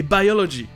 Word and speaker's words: biology: Ça, c'est parce que le I est dans la syllabe accentuée.